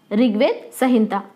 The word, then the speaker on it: ऋग्वेद संहिता: ये लफ्ज़ हिंदी से उर्दू में लिखा हुआ है, तो इसीलिए आपको कुछ प्रोनाउंसिएशन में इसके तलफ़ुज़ में मुश्किल आएगी, इसे ध्यान से सुनिए। ऋग्वेद संहिता।